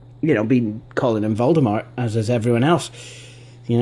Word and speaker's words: Voldemort: true it is, but apparently Voldemort is actually supposed to be pronounced Voldemort. You see, Voldemort's name was actually taken from the French Voldemort, which means flight of death.